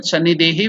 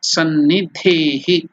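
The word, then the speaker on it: Sannidhehi: Sannidehi. Iha Sannidehi. So from the Sannidhapani mudra, we are telling the mantra Iha Sannidehi. Iha Sannidehi. We have done in writing that Sannidehi, we have made a mistake.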